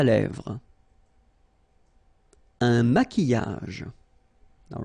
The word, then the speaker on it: maquillage: Un maquillage. Okay, so here, same rule, QU, but then U is not pronounced, so qui, and then y. Maquillage.